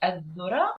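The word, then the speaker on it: الذرة: dhura in Arabic, and it's the same pronunciation of the word this or the in English. So if we say the corn, I say adhura or idhura.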